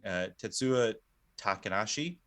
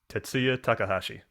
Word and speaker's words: Tetsuya Takahashi: monster ideas so other notable design designers including tetsuo takanashi did i say right tetsuya takahashi i kind of said it right all right